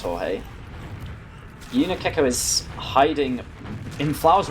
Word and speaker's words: Jorge: way and pronounces it george no and i know commonly it's also jorge is it jorge or is it george do you know uh he is spanish so i believe it's jorge is hiding in flowers